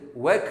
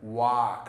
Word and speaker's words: walk: ወይ መመልከት ማለት ነው ብዙ ጊዜ በwa የሚጀምሩ ቃላቶችን በትክክል pronounce አናረጋው ይሄን አንብቡልኝ ስል ብዙ ሰው እንደም ይለኝ ወክ ነው የሚለኝ ወክ አይደለም ዋክ ነው because ይሄን ብቻ ይሁን